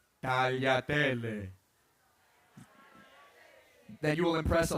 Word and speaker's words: tagliatelle: Nobody wants to hear tagliatelle. But if you can say it right, tagliatelle, then you will impress a lot of people.